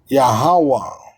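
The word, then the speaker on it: Yahweh: Lord Capital which is yahawah right here Lord Capital you see the name and they pronounce it wrong but it's yahaa yah aha yahawa so it's telling you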